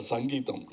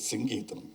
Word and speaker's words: Singeetham: In Tamil Nadu, he used to get very upset because say, Mr. Sangeetham. No, it is singeetham, please.